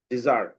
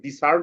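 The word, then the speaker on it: desert: ইন এ হট ডেজার্ট, ডেজার্ট ঠিক আছে, এখানে ডিসার্ট হবে না, এখানে এস এর সাউন্ডটা জয়ের মতো হয়েছে। ঠিক আছে, এই প্রোনাউন্সিয়েশনের এই বিষয়গুলো আমাদের খেয়াল করতে হবে।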